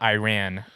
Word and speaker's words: Iran: going around correcting people it's Iran not Iran and then people are